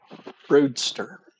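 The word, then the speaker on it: Broesder: So, if you've never heard of Carmen Broodster is how you say her last name.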